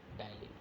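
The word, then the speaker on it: ptyalin: और इस कन्वर्जन में जो आपका एंजाइम वर्क करता है वो आपका है यहाँ पे टाइलिन। कुछ बच्चे इसको पटाइलिन बोलते हैं तो वो गलत प्रोनाउंसिएशन होता है।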